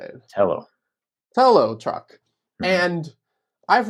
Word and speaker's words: Telo: Telo.